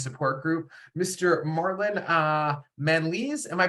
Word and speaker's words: Manalese: the ADHD men's support group Mr Marlin uh Manley's am I pronouncing that last name correctly awesome oh fantastic